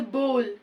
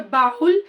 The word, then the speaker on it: bowl: sixth one is a bowl we never call it a bahul it is not at all a correct pronunciation it is Bowl we